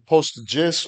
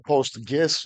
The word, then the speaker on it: PostGIS: It is about raising awareness for the combined potential of Postgres with GIS tools and PostGIS or PostGIS or PostGIS. All three pronunciations are valid since none of them are official.